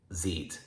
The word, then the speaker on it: sieht: So this form would not be pronounced sehst, it would be pronounced siehst, sieht.